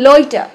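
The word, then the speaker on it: loiter: sofa সোফার উপরে তারপরে লইটা লইটার মানে হচ্ছে দেখুন আমি লইটার র কিন্তু উচ্চারণ করলাম না লইটা লইটা লাস্টে কিন্তু আর হবে না লইটা মানে হচ্ছে ইতস্তত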